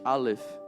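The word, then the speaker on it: אלף: Aleph. Repita comigo, Repeat Aleph. after me, Aleph. Não, tem que ter esse soprinho. You gotta blow the letter, Aleph. Aleph.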